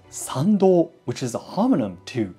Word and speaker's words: 参道: The path to the main shrine, which one walks after passing through the torii gate, is called Sando, which is pronounced exactly the same as Sando, birth canal.